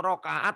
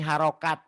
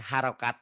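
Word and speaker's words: harakat: Kok rokaat? Rokaat mah sholat. Rokaat mah ini harokat ya. Harokat itu ketukan. Harokat. Harokat Ya. jangan rokaat ya Bu ya.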